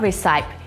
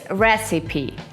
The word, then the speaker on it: recipe: Not recipe, it's recipe.